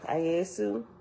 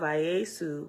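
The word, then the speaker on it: Iesu: time but also after ayesu is a reference letter e and it's spelled i-e-s-u right which we know over time was translated and that's how we got the name Jesus right we ain't gonna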